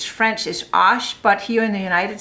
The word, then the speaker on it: Arches: And the brand I prefer is Arches or correctly pronounced because it's French is ash, but here in the United States of America, we say Arches.